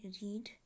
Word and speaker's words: read: पहला है READ रीड, दूसरा है READ रेड, और तीसरा भी है READ रेड। इसमें ध्यान दीजिएगा, तीनों फॉर्म्स में स्पेलिंग एक ही है पर बोलने का तरीका अलग है। पहले फॉर्म को रीड बोलते हैं और दूसरे और तीसरे